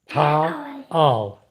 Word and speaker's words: Taal: So when you pronounce words, if you see a word that's Taal, Ta'al, Ta'al, okay?